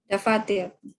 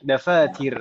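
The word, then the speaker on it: دفاتر: Dafatir. Dafatir, ahsanti. Dafatir. Taknya kasrah, Om ya. Ya. Aina dafatiru. Saya tulisnya kasrah.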